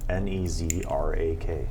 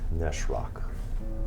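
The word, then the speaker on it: Nas'raq: Nezrak. It was pronounced Neshrak.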